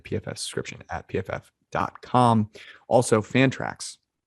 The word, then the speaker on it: Fantrax: Also, Fantrax rhymes with anthrax.